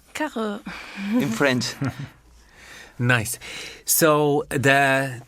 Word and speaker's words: Carroz: But last year I discovered that the name is a French name. Yes. It's Carroz Carroz.